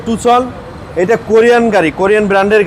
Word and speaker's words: Tucson: এই গাড়িটার নাম হচ্ছে টুসন আমরা বাংলাদেশের টাকসন বলি টাকসন না এটা হচ্ছে নাম উচ্চারণ হবে টুসন এটা কোরিয়ান গাড়ি কোরিয়ান